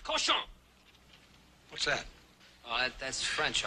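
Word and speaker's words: cochon: fit for man nor Coan better to spend the time killing the roaches in your plague ritten mistro than murdering my Rhymes the word is pronounced koson what's that oh that's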